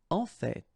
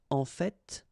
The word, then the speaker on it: en fait: En fait. So whether you pronounce the final T or not, you can hear both. En fait. En fait.